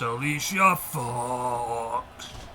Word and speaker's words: Alicia Fox: You didn't say it right, Chainsaw. It's Alicia Fox.